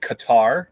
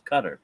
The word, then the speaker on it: Qatar: I've heard a lot of people pronouncing it Qatar, but that's incorrect. It's Qatar. It is Qatar.